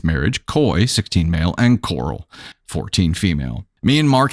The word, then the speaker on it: Coral: By the way, it's Coral, C-O-R-A-L. It's not me pronouncing Carl like Rick Grimes.